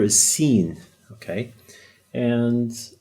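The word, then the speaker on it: سين: Okay, now the S, that's the equivalent of the letter S in English. The name of this letter is Sin.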